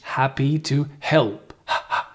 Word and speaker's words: happy to help: Make sure you pronounce the H. Happy to help.